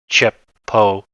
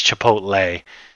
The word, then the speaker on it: Chipotle: I say Chipotle because I'm just reading it chipo but it's Chipotle because it's you know